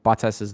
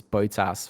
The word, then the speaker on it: Bottas: I just couldn't have JC saying Bottas's name as Botas for the rest of this podcast.